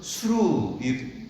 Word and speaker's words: 수르: 수르. 원래는 히브리어로는 수루, 이게 정확한 발음인데, 그거를 빨리 하면은 수루를 빨리 하면 술 뭐 이렇게 발음이 되겠죠.